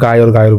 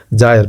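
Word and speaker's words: gyre: ঠিক আছে, আমরা অনেক সময় ক্লাস 10-এ এটা বাড়িমণ্ডলে পড়েছিলাম, গায়র বলতাম। ঠিক আছে, কিন্তু এটা অ্যাকচুয়ালি উচ্চারণ হচ্ছে জায়র বা কুণ্ডলী।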